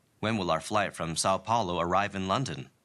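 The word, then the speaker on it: São Paulo: When will our flight from Sao Paulo arrive in London? 자, when will our flight from 상파울로죠. 영어로 이제 사파울로라고 읽고요.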